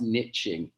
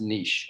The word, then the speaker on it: niche: charge it's not pronounced niching okay it's from the french for the word for nest and it's pronounced niche okay that's what we're